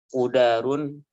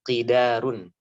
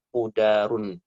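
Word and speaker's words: قدار: Kiai dahulu waktu Kang Haji belajar membacanya qidarun. Bahkan juga ada dalam tahqiqan tafsir Jalalain yang lain dibacanya qadarun. Tapi tampaknya Kang Haji harus memilih bacaannya kudarun. Yakni didomahkan qafnya. Qudar bin Salif nama lengkapnya.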